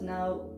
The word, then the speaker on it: 나: to it we get this one is pronounced like an n and you put an ah next to it and you get no no also not in